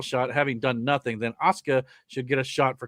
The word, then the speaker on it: Asuka: It's so Yeah, I have a hard time breathing past the U. So I always say me every time you say her name. I'm like, where's the I? I I I have to I have to act like there's no U there.